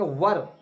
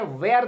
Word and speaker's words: were: इसको देखें, वेयर नहीं बोलेंगे, वेयर गलत हो जाएगा। वेयर मतलब होता है कहां, वो स्पेलिंग अलग है, उसमें एच है, इसमें एच नहीं है।